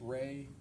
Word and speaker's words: Rey: There's also a visual spatial ability test and I'm going to have you explain or pronounce that for us. the REY test. Ray, the Ray Astrich complex figure test.